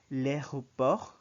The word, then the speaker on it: l'aéroport: L'aéroport, notice that it's soft in the E. L'aéroport, because there's an A before it. So you say l'aéroport, l'aéroport, Also notice that the last letter, the T, is not pronounced.